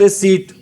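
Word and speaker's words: receipt: ठीक है, और इसको रिसिप्ट नहीं बोलते, ध्यान रखना, इसको बोलते हैं रिसीट।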